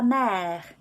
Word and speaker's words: mer: sea so la mer we've got the word for mother which is mare which is spelt differently which is also a la word but it's spelt like this with an e graph mare la mer is the word for mother lame is the word for c sound the same you have to pick